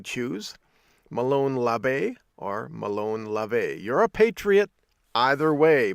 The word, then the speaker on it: labe: might be asking well why are you pronouncing it love a instead of la baie well that's because there